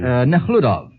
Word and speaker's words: Nekhludov: Nekhludov. Nekhludov is the prince. Well, you pronounce it better, but we have the same It's a prince.